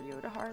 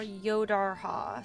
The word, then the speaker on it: Yodarha: Maybe I'll do one more episode for Yodahar, though. Or Yodarha, sorry. Been saying it wrong, my bad.